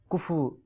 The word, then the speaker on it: کفو: عام طور پر لوگ اس کو کفو کہتے ہیں. اس کا درست تلفظ کفو غالباً فا کے اوپر بھی جزم ہے اور واو کے اوپر بھی جزم ہے. کفون اصل عربی کے اعتبار سے کفون ہے، لیکن کفو اس کو